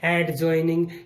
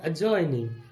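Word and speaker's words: adjoining: जे से पहले डी आया, डी हो गया साइलेंट। डी मतलब ड, और उसकी ड की ध्वनि नहीं आएगी, तो हमने एडजॉइनिंग नहीं बोलना है, हमने बोलना है अजॉइनिंग।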